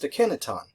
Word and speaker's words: Akhenaten: changes his name to Akhenaten. Or sometimes you'll hear that pronounced Akhenaton. And again, you'll probably hear me use both pronunciations.